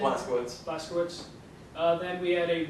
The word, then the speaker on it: Blazkowicz: Blazkowicz.